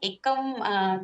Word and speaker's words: Akums: आस्था pronounce कैसे करते हैं, आकुम्स ही है क्या और पैसा डालना है नहीं डालना? हाय गुड मॉर्निंग, इसका प्रोनाउंसिएशन एकम करके होता है, एकम ड्रग्स, तो ई करना चाहिए तो कंफ्यूजन नहीं होता।